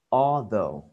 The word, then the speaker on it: although: Cái gạch dưới này đọc là o, ok, o, o, although, ok, although, nhấn vần đầu tiên, although, ok.